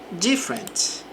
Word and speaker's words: different: Different. My tasting music is different from yours. Então, meu gosto, minha preferência in music is different. É diferente. Observe que a sílaba forte fica aqui no início.